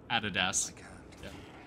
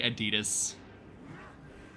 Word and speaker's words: Adidas: where they came from how do you pronounce Adidas Adidas we don't say Adidas some people might if they're uh wankers oh Grim wand IUN